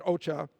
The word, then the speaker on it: OCHA: The UN's Office for the Coordination of Humanitarian Affairs, OCHA, I will pronounce it OCHA, says, as of early